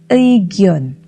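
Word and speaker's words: 의견: Huruf tersebut dibaca ei jika di awal kata. Contoh, Eugyeon yang artinya pendapat.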